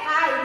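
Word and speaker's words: high: लेकिन यहाँ पे GH क्या हो जाएगा? साइलेंट हो जाएगा।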